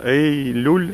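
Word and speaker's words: Eylül: Эй-Люль? Эй-Люль. Эй-Люль. Да. Ух ты, как интересно. Ну, я выучу следующий раз. Ну, это как июль ваша.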